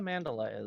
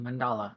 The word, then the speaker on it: mandala: don't know what a Mandela is you craft this beautiful thing and then you just oh mandala H gotcha yeah mandala sorry now you probably I